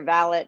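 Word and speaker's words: valet: going to pay your ballot and yes we realize it's spelled ballet and horse racing but we pronounce it valid rhymes with palette so you're going to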